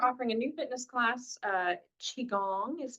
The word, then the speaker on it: Qigong: Qigong. Qi? Qigong. So the Q is a C? Qi, Yeah. or a Something like that.